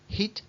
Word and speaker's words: hit: Y también recuerdo que la H en inglés se pronuncia un poquito. Tampoco hace falta decir hit, hit, hit. No hace falta que nos duele la garganta cuando la pronunciamos.